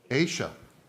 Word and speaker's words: Isha: uh and that is Isha Patel and am I pronouncing your name correctly I keep saying Isha and somebody said that's not wrong you're doing it wrong Aisha so I've been doing